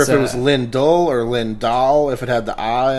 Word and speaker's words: Lindahl: it's Linda I've gotten Lindell a couple times but yeah yeah it doesn't it doesn't really matter I think it's it's Swedish origin okay which makes it